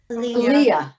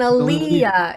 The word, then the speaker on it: Aliyah: When you're going up to the Torah, you have Aliyah. and Aliyah. It's like you don't even spell it differently. It's just the accents on the different syllable, right?